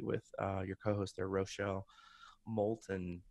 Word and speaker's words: Moulton: Business of Authority, with your co-host there, Rochelle Moulton, right? Did I pronounce her last name right? Yep, Rochelle Moulton, yep.